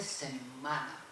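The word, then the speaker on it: setmana: El valenciano se dice semana, con una M larga, se escribe TM.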